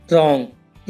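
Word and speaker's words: wrong: रहता है for example रॉन्ग right और राइटर इन सब में आर से पहले डब्लू आया हुआ है तो डब्लू साइलेंट है इसमें रंग की हिंदी है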